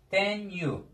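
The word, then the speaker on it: tenho: Falu, livru, vendedor, tenyu. Bakın, şimdi H harfi ünsüz, daha doğrusu özür dilerim, ünlü bir harften önce geldiği zaman Y oluyor. Yani biz bunu nasıl diyeceğiz? Tenyu. Telaffuzu bu şekilde arkadaşlar.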